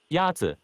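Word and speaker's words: 鸭子: Yazi is pronounced with a first tone. In Mandarin, there are four tones, which are essential to distinguish the meaning of words. The first tone is a high-level tone.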